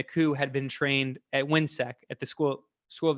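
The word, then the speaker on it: WHINSEC: hemisphere institute something to that effect and it's pronounced windsec w-h-i-n-s-e-c and they they're the same thing but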